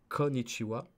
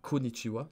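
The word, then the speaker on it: こんにちは: l'apprendra plus tard donc kohn nishi ou à konichiwa et pas konichiwa il ya bien le n konichiwa comme bas noah comme benoît et là c'était quoi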